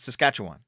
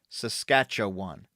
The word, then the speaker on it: Saskatchewan: a native word so they they can't really pronounce it and they're like what how the it's Saskatchewan Saskatchewan saskatchawan it's really easy as I say it's